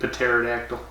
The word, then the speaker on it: pterodactyl: Like pterodactyl. Yeah. Lots of T's. In French and Creole, lots of T's are silent. How come you can't hear a pterodactyl go to the bathroom? Because the P is silent.